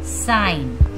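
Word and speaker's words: sign: देखिए रूल्स क्या है जी इज साइलेंट before A okay जब भी बिफोर एन आएगा जी तो वो क्या रहेगा साइलेंट रहेगा जैसे साइन देखिए जी क्या है साइलेंट है डिजाइन ये क्या है इसमें भी जी साइलेंट है नेक्स्ट है नारने इसमें क्या है जी साइलेंट है क्योंकि ये एन के पहले आया हुआ है यहां भी देखिए क्या है असाइन साइन में भी एन के पहले है तो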